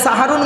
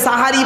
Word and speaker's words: সাহারি: আর সিনে জবর দিলে দন্তেশয় আকার মানে হবে সাহারুন মানে হল। রাতের শেষ অংশের খাবারকে আরবিতে সাহারি বলে। তাহলে শব্দটা কি হবে? সেহরি না সাহারি? ভুলটা ভাঙলো।